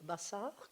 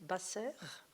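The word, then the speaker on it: בשר: voyelle en hébreu, et ce mot bassar, que je viens d'appeler, de traduire par le mot chair, si je le prononce basser, le même mot, c'est le verbe informer.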